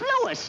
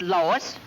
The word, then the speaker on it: Louis: Me name is Louis, not Lois. Chief Whiz, everybody interpolates me name wrong. It's Louis. L-O-U-I-S.